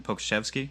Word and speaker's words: Pokuševski: As long as you brought his name up, do you want to talk about how do you pronounce his name even? Pokuševski, is that correct?